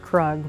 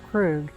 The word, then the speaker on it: Krug: officially opened in 1851 the Krug now everybody in town calls it kug but the official German pronunciation is Krug and the Krug brothers